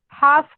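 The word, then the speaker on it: half: हाफ का क्या होता है, हाफ. हाऊस. ओके, याच्यामध्ये एल चा उच्चार होत नाही, सायलेंट.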